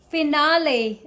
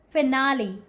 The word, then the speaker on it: finale: facility see this one don't call it finale the correct way to say this word is finale finale okay have you